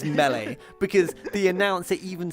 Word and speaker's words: Melee: Is it pronounced Melee or Melee?